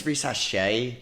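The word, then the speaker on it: Risacher: So say it one more time, Risache.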